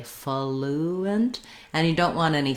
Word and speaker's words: fluent: Then when we move on to the second syllable of fluent, you might see it with a schwa or an I sound, just thinking about almost having no vowel there at all, going almost directly to the N, fluent and fluent.